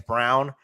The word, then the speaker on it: Braun: yeah, I don't know if it's Braun or Brown. It says Brown, but it's spelled Braun. So Braun, I guess Brown.